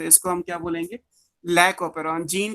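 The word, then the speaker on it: lac operon: तो ये क्या कहलाएगा, ये लैक ओपेरॉन कहलाएगा, लैक्टोज ओपेरॉन बोलेंगे, आप प्रोनाउंस इसको लैक ओपेरॉन कहते हैं।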